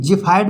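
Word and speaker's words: xiphoid: एक्स आई पी एच आई ओ आई डी जिफ फाइड मीस होता है सीने की हड्डी संबंधी रोग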